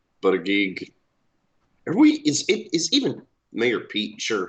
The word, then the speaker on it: Buttigieg: Booty Judge. Buttigieg. Is even Mayor Pete sure how to pronounce his own last name?